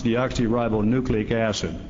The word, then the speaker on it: deoxyribonucleic acid: by the way I learned to do was pronounce it it's deoxyribonucleic acid and I've perfected it I wanted to know